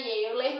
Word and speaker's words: Euler: Se escreve Euler, mas lê-se Euler, tá?